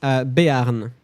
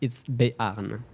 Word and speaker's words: Béarn: Béarn. I can't really give you any massive tips on how to pronounce it, but it's Béarn, basically.